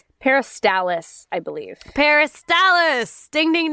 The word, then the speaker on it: peristalsis: Anyways, it's called peristalsis. Peristalsis, I believe.